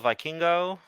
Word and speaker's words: Vikingo: I I say it like, all right. I understand that as a Puerto Rican, I should be able to do this, but I just say it like a Pokemon, Okay.